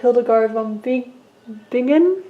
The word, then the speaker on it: Hildegard von Bingen: I'm listening to Canticles of Ecstasy, a CD of the music of Hildegard von Bingen, I believe is how it's pronounced.